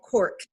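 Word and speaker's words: Corq: You can also download an app called Cork, and it connects with AU Connect. So it tells you all the activities that are happening. And it's spelled C-O-R-Q. Q, yep.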